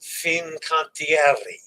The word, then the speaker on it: Fincantieri: I heard from my coach, my pronunciation coach, and Dennis. It's Fincantieri.